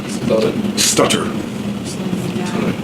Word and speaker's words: stutter: you were saying stuttering that sounds like st stutter it is pronounced stutter yeah but it English is a